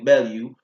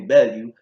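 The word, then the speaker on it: Bellew: Tommy Bell you or let me say it correctly now Tony Bell you first David hey let's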